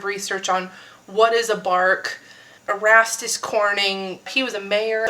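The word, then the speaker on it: barque: Keep in mind this is spelled as B A R Q q U u E. This isn't like the bark off of a tree.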